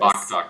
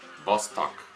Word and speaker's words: Vostok: Yeah, I'd say that is Baktak, but I don't know. Vostok. Vostok. All right, Vostok, we're just being corrected here.